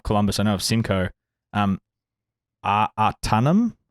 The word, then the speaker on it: Ahtanum: Artanum hops? AHTANUM? Do you know what that is? Ooh. Hey, spell that for me. AHTANUM. Artanum. Oh, It makes it Artanummy.